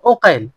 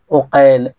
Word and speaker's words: ওকাইল: একজন একজন মোহাম্মদের পিতার নাম আকিল আর একজন মোহাম্মদের পিতার নাম ওকাইল। এখানে দেখেন বাবার নামে পার্থক্য লিখা একই। আপনি লিখতে দেখতে একই লাগবে। কিন্তু উচ্চারণে আলাদা আলাদা। একটা হচ্ছে আকিল আরেকটা হচ্ছে ওকাল।